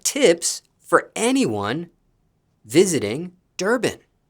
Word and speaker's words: Durban: Okay, and speaking of Durban, did I pronounce that correctly? Yep, yep. Okay, Durban.